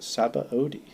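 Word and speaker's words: Sabaody: really surprised to learn that that word is pronounced sabba ODI oh I was pronouncing it Sai we're going to go to hog backs zabou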